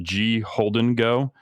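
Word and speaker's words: Gholdengo: that I I recently learned how to actually pronounce it it's a g Holden go um if you catch if you catch the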